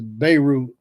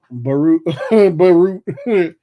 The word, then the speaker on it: Beirut: I mean, it just, as the time goes on, you say it like this: Beirut, Beirut. Oh, the BEI. So the I is like Y. So Beirut. Okay, yeah, the I is like Y. Beirut.